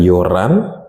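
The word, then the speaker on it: 열한: Nah untuk yang 11, yol hana menjadi yol han, atau sering di listening itu diucapkan yoran.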